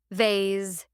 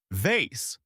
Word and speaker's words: vase: Vase exclamation mark. Vase.